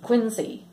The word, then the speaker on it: Quincy: was there though um they live in Quincy Quincy that's how you say it they live in